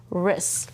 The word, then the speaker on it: wrist: The first word says, "wrr ist, wrist." Like, here's my wrist. Good. Does it have a silent letter? Yes, because there's a W R, but it only says, "ruh."